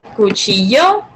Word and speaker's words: cuchillo: The pronunciation for that in this case would be cuchillo. So in Spanish, 2 L's make the sound, I guess, like, you kind of like, it's like yo.